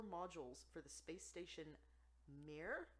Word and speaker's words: Mir: for the space station Mir, I think is how you say it, MIR, from a Moscow museum.